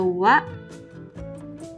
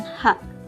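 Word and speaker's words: は: atau subject kemudian ada Wa kalau misal ada yang bingung kenapa di sini tulisannya hak tapi kok dibaca WA karena kalau misalnya dia masuk kedalam kalimat dibaca nyawa bukan hak kata benda 2 Des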